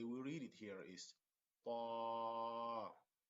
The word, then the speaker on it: طالب: So the way we read it here is طالب طالب طالب. So we kind of stretch the alif طا because the alif is a long vowel, so we stretch it a little bit.